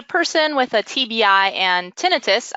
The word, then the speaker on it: tinnitus: with a TBI and tinnitus, I just learned how to pronounce that, by the way, thank you, I was been saying tinnitus.